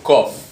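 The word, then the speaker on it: קוף: Se escribe igual, pero se pronuncia un poco distinto, que es un kof en hebreo.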